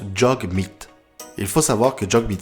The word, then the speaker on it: Jagmeet: D'ailleurs, son prénom se prononce Jagmeet.